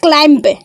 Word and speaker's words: climb: First of all, C-L-I-M-B, not climb. This is climb.